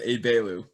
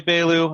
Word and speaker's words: Egbelu: i appreciate you for that last name is pronounced a bailu chisa ebelu uh who is a rutgers alumnus uh class of 2015 right oh no 2016.